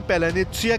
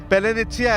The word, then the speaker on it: паляниця: अब जेलेंस्की की नई मिसाइल के नाम पेलानित्सिया के पीछे की कहानी समझिए।